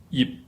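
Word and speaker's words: 葉: And you can hear again, yip. In order to get this word out, you have to close your mouth to get the P sound, but you do not pronounce it.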